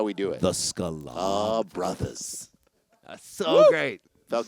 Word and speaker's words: Sklar: it he's like the Scala Brothers the Scala Brothers I'm like did he add a syllable to my last name are have we been